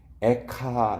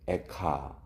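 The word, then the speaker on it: איכה: 근데 이 애가서의 첫 단어가 히브리어로 에카 이렇게 발음이 돼요. 에카.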